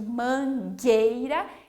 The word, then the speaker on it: mangueira: Porque quando eu falo, por exemplo, aqui mangueira, eu uno essas letras para fazer o G. Nós não vamos falar mangueira, ok? A gente não pronuncia a letra U, ok?